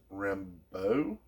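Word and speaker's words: Rambeau: we got maria and i believe her last name is pronounced rambo and um she's from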